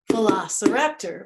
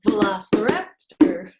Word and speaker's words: Velociraptor: Velociraptor. Whoops, I did that one wrong. Velociraptor. I keep missing that last syllable.